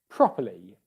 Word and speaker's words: properly: properly, where this time the stress syllable is on the first syllable, pro. Then you've got a normal syllable, pa, but then that third syllable is weak. Properly, properly, properly. Okay, and it's not long, it's not properly, it's not a long English vowel sound, it's the weak, short I English vowel sound.